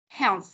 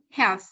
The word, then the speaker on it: health: cuối đấy em có đặt lại cài đặt lưỡi ở giữa hai hàm răng và đẩy hơi ra thảo heo Ok health thử đi health các